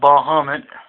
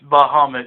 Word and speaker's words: Bahamut: had this conception about bahmed um yeah it's Bahamut that's that's how you say it but how you spell